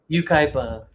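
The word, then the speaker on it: Yucaipa: How do you pronounce that? Ukaipa.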